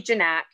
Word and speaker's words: Zignac: Zignac? Close enough. Well, how do you pronounce it? We say Zignac.